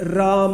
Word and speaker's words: राम: जैसे हमने लिखा श्री राम श्री रामा अब देखिए मेरा उच्चारण देखिए मैंने राम के बाद भी मैंने आकार का उच्चारण किया यह शुद्ध उच्चारण हिंदी संस्कृत को सामान्य